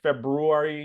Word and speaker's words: February: I mean, February, it's another one like that first R, like February. You don't you skip over it. You don't pronounce it.